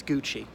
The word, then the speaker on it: Gucci: watches okay and ducky I never heard of gucky what's go about oh sorry it's Gucci they're often Italian and